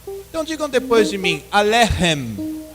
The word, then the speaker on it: Alechem: A palavra Alechem ali está escrito com a letra CH. Mas vocês devem pronunciar como se fosse um RR, como na palavra carro, bem forte.